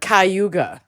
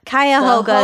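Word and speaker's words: Cuyahoga: in Northeast Ohio at the mouth of the kayoga river I did Google how to pronounce it yeah y I feel like some people say it is cuga I think it's kayoga that's how I always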